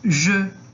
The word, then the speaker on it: je: Então, o formato da boca do O, conforme a gente vai pronunciar o O, mas em vez de pronunciar, por exemplo, esse O, você vai pronunciar o som do E. Então, o som vai ficar mais ou menos je, tá?